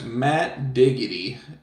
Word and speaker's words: Matt Diggity: Yeah, it's Matt Diggity. Exactly how it sounds is exactly how it's spelled. Just dig, like diggity.